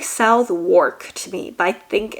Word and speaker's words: Southwark: the middle, and you have the borough of Southwark. Gosh, sometimes the pronunciation because like it looks like Southwark to me, but I think it's pronounced Southwark.